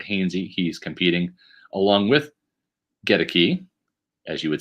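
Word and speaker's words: Goedeke: the right wearing 67, that's Luke Gedeke, not Gedeke. Like I've been mispronouncing it all this time. It's Gedeke. No, I'm sorry. It's Gedeke. Gedeke. Gedeke. Get a key.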